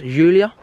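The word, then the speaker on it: Giulia: cars is it julia is that how it's pronounced julia yeah it's a julia isn't it like the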